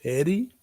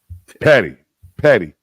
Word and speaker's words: Patty: You say Petty? Patty. P-A-T-T-Y, not P-E-T-T-Y.